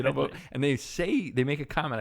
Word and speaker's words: Hedley: The funny thing is, in the movie, they talk about it all the time, where people missay his name. They say Hedy. It's like, it is Hedley, Hedley.